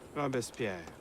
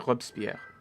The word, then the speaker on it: Robespierre: a name Arno Dorian Robespierre I don't think you'd pronounce the e like that I thought it would just be a hub spear what do I know